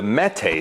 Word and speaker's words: Mete: a new gun so kanik recently released the mete series and straight from the horse's mouth i promise you that's how you pronounce it so the mete lineup of pistols